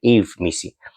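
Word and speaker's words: Yves Missi: I think that should be his pronunciation, Eve Missy.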